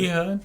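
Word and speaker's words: Ehud: And so when Ehood, how do y'all say his name? Ehood. Ehood.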